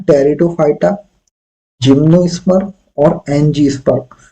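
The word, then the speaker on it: Pteridophyta: कन से है य प लगा साइलेंट रहता है इससे पढ़ते हैं टेरिडोफाइटा जिनो स्पर और एनजी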